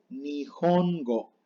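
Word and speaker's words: 日本語: Se lee nihongo. No es nihongo, es nihongo. Entonces, muy común que se confundan con la H, pero hay que pronunciarla bien. Siempre se pronuncia.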